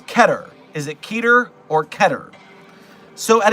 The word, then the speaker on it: Keter: But the next best thing is Keter, rhyming with cheddar. It's not by any means Keter, rhyming with meter.